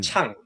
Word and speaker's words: Chang: It's Chun. Chong. Ch. Yeah. Because we don't have an NG on like the pronunciation NG properly. Chun. Says chun. It's like shorter. Not G. You remove the G.